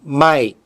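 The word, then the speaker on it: 毎: Satu cara bacanya, mai.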